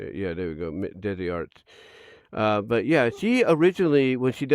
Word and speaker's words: DezzieArts: As a matter of fact, yeah, it's basically what it is, Desi Arts, right there. If I can just take that out, there we go. Yeah, there we go, Desi Arts.